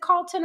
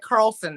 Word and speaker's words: Carlson: she mentioned uh Carl is it Carlton or Carlson I think we're at Carlson now Carlson Carlson because